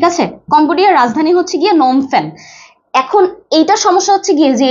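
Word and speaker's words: Phnom Penh: স্পেলিংটা হচ্ছে গিয়ে অন্যরকম আমরা প্রোনাউন্সিয়েশন যেমনই করেন না কেন সেটা হচ্ছে নোমের আগে একটা পি বসেছে ঠিক আছে পি এইচ পি এইচ এন ও এম নোম ঠিক আছে এটা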